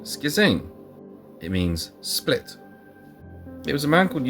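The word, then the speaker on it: σχίζειν: Well, it turns out that schizoid comes from the Greek. I think you pronounce it schizein.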